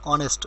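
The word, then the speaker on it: honest: আর অনেস্ট, এইচ যেহেতু consonant, তার পূর্বে এ বসার কথা ছিল, কিন্তু এইচ উচ্চারিত না হওয়ায় অনেস্ট উচ্চারিত হয়েছে, এইচ সাইলেন্ট, তাই এন বসেছে।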